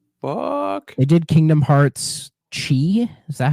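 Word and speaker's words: χ: they did Kingdom Hearts Chi is that how that's pronounced the web browser one yep it has like the X but it's not pronounced X it's pronounced chi I and guys most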